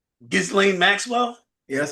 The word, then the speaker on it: Ghislaine: But Leo, did you know that he had a 9-hour meeting with your friend, Kristen Gristle Maxwell, whatever her name is? What's her name? Ghislaine Maxwell, right? Ghislaine Maxwell?